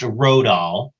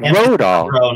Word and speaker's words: Rodahl: But it's pronounced Rodahl, like I got in my car and rode all the way home. Nice. But Rodahl.